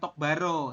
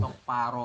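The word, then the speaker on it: 똑바로: to paro betul jadi Jadi bukan tok Baro seperti itu ya tulisannya memang begini tok Baro tapi dibacanya adalah tok pao tok paro begitu sampai ini bisa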